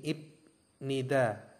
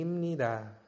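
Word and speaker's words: 입니다: imnida nah pipnya ini kalau misalkan dibaca sesuai satuan suku kata itu kan menjadi IB nid Ya tapi kalau misalkan di sini Jika bnya Bertemu dengan Nien ya itu bepnya menjadi M atau miem bacanya menjadi imnida nomor dua ada i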